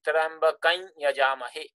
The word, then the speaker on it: Trambakam Yajamahe: And here in this mantra, the proper pronunciation is actually Trambakam Yajamahe, the nasalized sound.